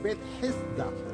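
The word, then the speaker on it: Bethesda: Over here is called Bet Hesda. I know that it's very difficult to pronounce it. Only the Arabs and the Jews are allowed to do that. Bet Hesda means the house of mercy.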